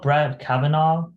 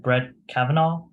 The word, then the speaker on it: Brett Kavanaugh: It's called Brett Kavanaugh. Oh yeah, I didn't know how to pronounce his last name. Would you like to practice? Like, could you repeat after me? Brett Kavanaugh.